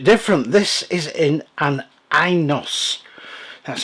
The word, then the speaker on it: Inos: This is in an Inos, that's how you pronounce it, by the Fifth Wheel Company.